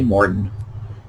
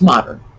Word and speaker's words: modern: throw them in uh if you ask them how to pronounce m-o-g-e-r-n they're gonna say morton no it's modern no no it's morton it's what they do and this survives to